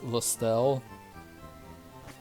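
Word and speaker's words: Lostelle: It took me so long, but I'm like, her name is just Lost Ellie. Pretty sure it's just pronounced Lestelle. But it's funny when you separate it and it's just Lost Ellie.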